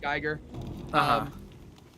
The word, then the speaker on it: Giger: Geiger, or Giger, however you say his name. I've always said Geiger.